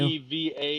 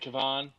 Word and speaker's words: Kevan: K-E-V-A-N. You think there's an R in Kevin? You never know with And this a show. W. Is Maybe it Kavan? It's Kevan.